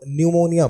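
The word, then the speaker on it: pneumonia: इस वर्ड में पी जो है वो साइलेंट होता है। हम इस वर्ड को न्यूमोनिया पढ़ते हैं, लेकिन अगर हम इसके हिंदी में उच्चारण करें तो इसे हम निमोनिया बोलते हैं।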